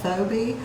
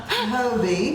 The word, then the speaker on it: Phobee: But I will tell you, if you will call Phobee, or Phobee, I'm sorry. Phobee. The H is silent.